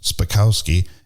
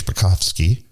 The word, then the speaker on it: Spakowski: one for me given my last name is spakowski and that's americanized the real way is spakovsky but a lot of people in the united states can't pronounce it like that so my dad americanized